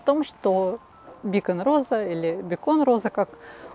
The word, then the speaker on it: Beacon: Привычнее, опять же, нам произносить бекон, но по правилам английского языка бекон в переводе с английского маяк через и с ударением на первый слог к гастрономическим изделиям никакого отношения бекон, в отличие от бекона, не имеет.